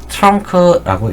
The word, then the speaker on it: TRUNC: 영어로는 trunk라고 읽습니다.